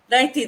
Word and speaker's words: Naithi: Or Naithi? Naithi, that's the pronunciation, isn't Yeah, it?